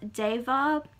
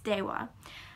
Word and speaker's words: Deva: So it's spelled Deva. You can pronounce it Deva, but the proper pronunciation is Dewa.